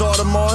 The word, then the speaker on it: Audemars: Oh, it's pronounced Audemars, so how hard are the bars hitting?